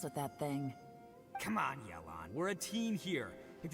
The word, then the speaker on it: Yelan: Also, I'm there sorry, can I've been be saying no her name wrong. Apparently, witnesses it's left Yelan, alive. not Yelan.